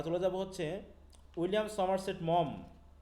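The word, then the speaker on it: Maugham: তারপর হচ্ছে আমরা চলে যাব হচ্ছে উইলিয়াম সমারসেট মম, এই যে মোঘাম যেটা দেওয়া আছে, মম উচ্চারণ।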